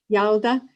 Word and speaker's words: Yalda: And there's a particular festival called Yalda. Am I pronouncing that correctly? Say it. Yeah. Yalda.